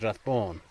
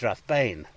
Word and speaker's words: Rathbane: it's actually Rathbone, and Bone would probably be B-A fodder N, and an A fodder is an O sound, so it'd be Rathbone. Everybody around here says Rathbone, but on the map, if you read it, because it's been anglicised, it's Rathbane.